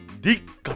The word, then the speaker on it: 六花: うテーマ、6 に花と書いて立夏って読むんですけ